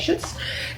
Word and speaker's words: Schutz: So okay, the next thing was we went into this store called Schutz. That's how you say it, Schutz.